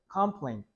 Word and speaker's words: complaint: 자, complaint는요, 뒤에 T 발음 조심하시고요. 듣다 보면 듣게 할 때, complaint, complaint, complaint. T 발음을 거의 안 해.